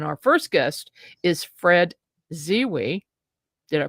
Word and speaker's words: Zewe: And our first guest is Fred Zewe. Did I pronounce that right, Fred?